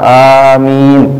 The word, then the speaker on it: amin: Ya yang benar itu panjang a-nya, panjang mi-nya gitu. Itu cara baca yang benar.